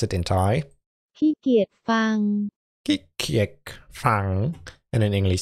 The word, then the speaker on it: ขี้เกียจฟัง: For sure I want to know how to pronounce it in Thai. Khi kiet phang.